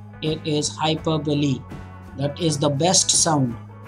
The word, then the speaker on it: hyperbole: please okay guys hyperbole is one important pronunciation for you to study it is hyperbole it's not hyperbole it is hyperbole that is the best some groaning repetition also